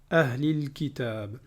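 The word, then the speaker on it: أهل الكتاب: Alors ici, vous voyez bien que j'ai prononcé le lam ahlil kitab. Et à chaque fois qu'on a alif lam, comme on l'a déjà dit, lorsqu'il y a un soukoun sur le lam, eh bien c'est une lettre lunaire, ça veut dire qu'on doit prononcer le lam.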